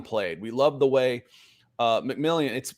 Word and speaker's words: McMillian: We love the way McMillian. Is it McMillan? It's spelled McMillian. I think it's McMillan. Jaquan, the way he played.